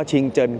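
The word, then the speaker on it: 清真: ซ้าย ทาง ขวา นะ มัน อ่าน ว่า ชิง เจิน ชิง เจิน ก็ คือ ล้าน ทุก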